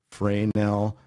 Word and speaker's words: Fresnel: it's pronounced, it's spelled F-R-E-S-N-E-L. It's pronounced Fresnel. We've heard Fresnel, Fresnel. The accepted pronunciation, French pronunciation, is Fresnel. Forget about the S, but you and everybody else have.